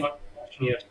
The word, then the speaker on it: Kwasniewski: Kwasniewski. Okay, I believe okay. that's how it's pronounced.